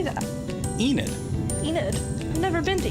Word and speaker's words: Enid: Enid.